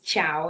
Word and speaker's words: Chao: to start with, but I would prefer to go by my African name, which is Chao, and it's spelled Chao.